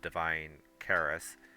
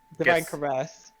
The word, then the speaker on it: Divine Caress: allow the usage of divine Caris uh pretty much Divine caress yeah Divine caress thank you for the correction pronunciation uh Divine caress will